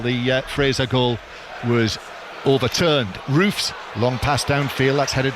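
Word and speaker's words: Roefs: to the Sunderland goalkeeper Robin Roofs, or Robin Roofs, as the pronunciation that I was. That's the second one's better. You should stick with that one, John.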